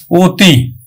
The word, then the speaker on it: অতি: অতি, স্বরেয় তয় রস্বই, কিন্তু আমরা উচ্চারণ করব ও তয় রস্বই তি, অতি।